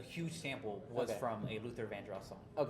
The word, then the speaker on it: Luther Vandross: And then once she opened up the envelope, she she said Luther Van no Luther Gandros won the award. even though Luther Vandros, that's what how you actually say his name.